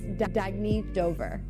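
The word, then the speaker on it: Dagne Dover: Oh, it's pronounced Dagny Dover.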